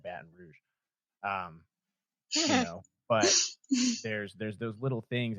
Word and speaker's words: Baton Rouge: just that's you know how my mom pronounced the word and so the one that I always remember his baton route instead of Baton Rouge there's there's those little